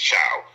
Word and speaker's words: Choi: The founder, of Taekwondo, Master, they say short spelled Choi, but it's pronounced Chow.